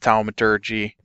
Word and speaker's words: thaumaturgy: It's Thaum, because it comes from the word thaumaturgy, and the. That's pronounced thaumaturgy.